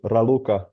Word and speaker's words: Raluca: Uh is your name pronounced Raua? Yes. Yes. Thank you Rauluka for the very fine presentation.